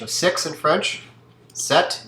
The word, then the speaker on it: sept: of six in French set is the pronunciation of seven sank is five and